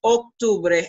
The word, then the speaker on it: octubre: Pay attention in terms of pronunciation that octubre is an O, see, it's not it's octubre, and then noviembre, and then diciembre, septiembre. Make sure that you control the filter of English in your pronunciation, okay?